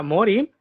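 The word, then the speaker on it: 森: Tiene 3 árboles. Se pronuncia mori y su yomi es shin. Entonces, el mori es muy común en apellidos Aomori, Komori, Tsukimori, etc.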